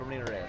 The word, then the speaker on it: Ramirez: Roll your R. Aldo Ramirez.